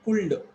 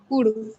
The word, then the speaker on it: could: will be okay, but they were calling it cooled. What is this word? Could.